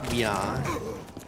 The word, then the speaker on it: Mga: And the last part of the book was they were getting ready to go to MGA, which I think is pronounced Mia.